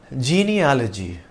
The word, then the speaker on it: genealogy: We probably make this mistake because we are used to words like geology and zoology, which end in ology.